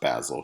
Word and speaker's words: Basil: between Lord Henry and basil and by the way his name is pronounced basil he's not an herb so the two of